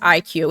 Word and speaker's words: iCUE: I think it's called pronounced IQ.